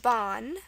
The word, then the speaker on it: ban: from someone's name um this word is Ban looks like ban but it's the fourth definition of ban so it's pronounced Bon okay the a with